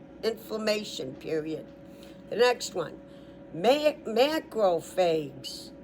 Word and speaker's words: macrophages: The next one, macrophages, M-A-C-R-O-P, crop, like crop, but phags, one P, and P-H is an F sound. So the new title is macrophages.